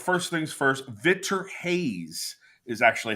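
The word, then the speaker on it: Reis: right now uh F first things first Vitor Hayes is actually how you say that last name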